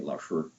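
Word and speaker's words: 老师: By the way, I understand the way that we mispronounce Laoshi, because it's supposed to be Laoshi.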